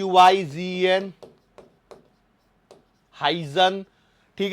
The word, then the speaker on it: Huygens: है अब इस थरी को देने वाले थे हाइजन कौन नाम है उनका हाइजन स्पेलिंग एच य वाईजी एन हाइजन ठीक है अब इन्होंने क्या बोला कि भैया